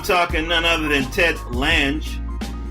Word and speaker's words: Lange: I'm talking none other than Ted Lange. Did I pronounce that right, brother? That is correct, sir.